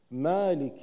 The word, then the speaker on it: مالك: اقول الرحمن او الرحمن لا بالكسر الرحمن الرحيم مالك يوم الدين هنا يجب الانتباه اكثر مالك يوم